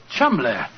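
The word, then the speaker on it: Cholmondeley: that the name Cham is in no way pronounced the way it is spelled no jo I never thought of that Chum that name spelled c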